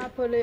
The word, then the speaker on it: Napoli: Napoli.